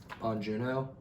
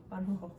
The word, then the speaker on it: Bong Joon-ho: Bong Joon-ho? Bong Joon-ho. I'm just trying to pronounce it the way he would.